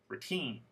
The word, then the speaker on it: routine: in the box ready so two syllable words first technique diset routine here I want you to know the suffix is the last syllable and the word stress is the last syllable too now let's go to